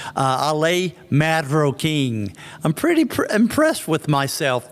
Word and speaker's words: Marroquín: Believe me, not many people in the US can pronounce my name correctly because of the R's. So you can show off with people and say Ferrocarril and Marroquín and then show off about the R's.